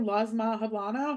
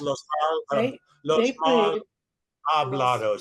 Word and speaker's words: Los Mal Hablados: Los Mal Hablano? Is that how you say it? Los Mal Hablados, silent H.